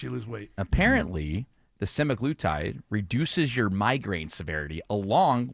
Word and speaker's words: semaglutide: A recent study from Denmark suggests that semaglutide, am I saying it right there?